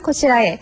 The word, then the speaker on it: こちらへ: 뒤에 해라고 썼는데 분명히 그렇죠. 그런데 저는 발음을 고치라에라고 했습니다. 이렇게 조사로 사용되는 경우 해가 에로 발음되는 것도 주의하셔야 됩니다. 자, 발음해 보시죠.